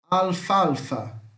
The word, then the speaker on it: alfalfa: Alfalfa, alfalfa, alfafa, alfalfa, alfafa, tá? Se escreve igual, a pronúncia é parecida, mas aqui tem um L a mais, tá?